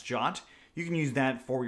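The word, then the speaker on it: JWT: rest framework jot or JW teens pronounce jot you can use that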